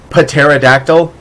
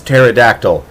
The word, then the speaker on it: pterodactyl: hmm it's like pterodactyl nobody knows how to pronounce it I still think that's stupid by the way psyche tangent Patera dactyl how would you take a prick to the side of the putt head it's pterodactyl thank you very much and Pluto's a planet